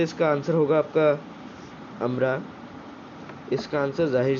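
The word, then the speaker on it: umbra: आप लोग इस स्पेलिंग को देख के इसको अम्ब्रिया भी प्रोनाउंस कर सकते हैं, लेकिन वो एकदम करेक्ट प्रोनाउंसिएशन नहीं होगा, वो आपका क्या होगा, अम्ब्रा होगा।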